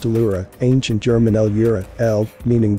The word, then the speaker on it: Ellora: The word Ellora is pronounced Ellura, ancient German Ellura, El, meaning God, and Ur, means origins, or source.